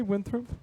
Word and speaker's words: Winthrop: motorcycle at that little Mexican cafe at Bryn Mawr and Winthrop? Did you say Winthrop? Winthrop, it's pronounced. So let's do another question.